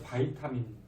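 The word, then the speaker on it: vitamin: 그래서 비타민도 비타민 그러면 잘 못 알아듣는데 바이타민 그게 표준어인 것 같아요. 외국 사람이. 영어 할 때 니네 그냥 비타민이라고 읽냐? 바이타민이라고. 아 비타민이라고 읽냐? 그래? 선생님 알기로는 외국 사람이 바이타민 그래야지 잘 알아듣는다 그래가지고 뭐 중요한 건 아니고.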